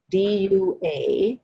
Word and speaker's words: dua: On our path, we call this a dua, D-U-A, pronounced dua.